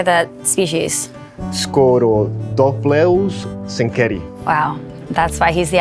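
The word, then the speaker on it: Scorodophloeus zenkeri: Scorodopleus senkeri.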